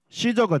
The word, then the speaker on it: 시저: 그래서 이제 성경은 가이사 이렇게 하는데 그걸 이제 라틴어로 발음하면 카이사르가 되는 거고, 그거를 영어로 발음하면 뭐가 돼요? 시저가 되는 거예요.